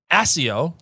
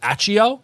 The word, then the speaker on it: Accio: make sense because it's the 2 C's, so it's a hard pronunciation. Is it? Or is it the Jim Dale version, Accio?